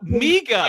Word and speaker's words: MIGA: I just I Oh, miga. Hold on dude. Miga. Give me a long e there. You can't do a short i there.